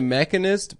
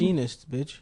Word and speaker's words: Machinist: He straight up he made the mechanist before he did Batman. Is that how you pronounce it? Machinist, The the mechanist.